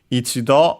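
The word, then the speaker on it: 一度: Ichido on its own is accented on the last syllable.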